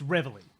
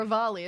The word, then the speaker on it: reveille: It looks like Reveille is how Americans pronounce it, and Yeah. Rivali is how British people pronounce it.